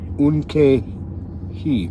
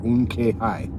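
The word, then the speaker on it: Unktehi: The T in KTE is silent, so K, that would be Unke-hi or Unke-hi.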